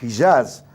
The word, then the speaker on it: Hijaz: clanes ahí en la península arábiga, en el Hijaz, como se pronuncia realmente, que era el Sharif Hussein, el